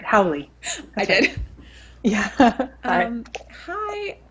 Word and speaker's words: Howley: on it's dr howley and i think i actually just said your last name wrong you said it right howly i did yeah um